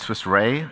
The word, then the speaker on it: Swiss Re: reimbursed financially so sorry different people pronounce the re differently some pronounce it Swiss ray it's really really quite simply and that is because it stands for reinsurer right so what is